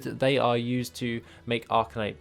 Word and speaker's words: Arcanite: are used to make arcanite bars or arca knight bars to actually pronounce that correctly and then we also